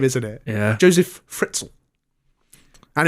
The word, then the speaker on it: Fritzl: isn't it yeah Joseph fritzell and it rhymes with schnitzel which is funny Joseph